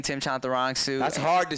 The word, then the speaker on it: Chantarangsu: I've been it's Chantarangsu. It's you're like 90%. You're so close. See, when I say it fast, I was Tim Chantarangsu. So it's Chantarangsu.